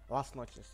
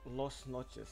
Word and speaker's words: Las Noches: we're gonna play this last Noches. Yeah, finally I pronounced that right. Before, like 2 days, I was always like saying like Lost Noches, you know, like, but yeah, whatever.